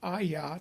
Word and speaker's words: Ayah: The father's heart was to put his name, their God's name, Ayah, 2 syllables, on the children. Jerem Ayah, Obad Ayah, Zephon Ayah, all the Ayah names, proving that his name is a 2-syllable pronunciation.